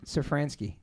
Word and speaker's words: Szafranski: Szafranski.